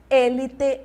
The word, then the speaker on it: élite: sílabas tônicas no português eu tenho oxigênio no espanhol eu vou ter oxígeno Tá bom eu vou ter aí oxígeno aqui fica fácil porque a sílaba já está acentuada então maravilha né No Português eu tenho a no espanhol Onde eu teno acadêmia acadêmia elite em português e élite em espanhol mais uma acentuada já